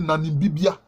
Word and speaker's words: Nanimbibia: Quand on prononce, on dit Nanimbibia. Mais c'est Nana et Bibia.